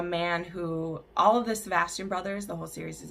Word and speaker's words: Sebastian: But when some of his enemies find out about her, he sends Sebastian is how you say that, Sebastian, to get her.